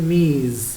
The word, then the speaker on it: Ms: এখানে তোমরা লক্ষ্য করো, এই যে এমএস মিস, এটাকে আমরা উচ্চারণ করি মিস।